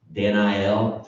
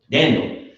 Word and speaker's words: Daniel: The eel on the ends of the name is that's the Hebrew for God. Danel. We probably should be pronouncing it like that really, but you know, we're too American for that. Daniel. Danel.